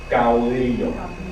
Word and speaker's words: caudillo: Caudillo. Caudillo, right? So it's not caudillo, it's caudillo. All right? So with a U, right? Like ow, like ow. Ow.